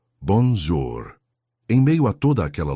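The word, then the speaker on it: bonjour: "O senhor tem que arredondar mais a boca quando fala bonjur", explicou ela pacientemente. Assim, ó, bonjor.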